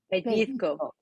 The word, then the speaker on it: pellizco: Pellizco with a P. Pellizco. Pellizco.